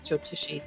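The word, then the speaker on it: Jyotishi: Jotishi.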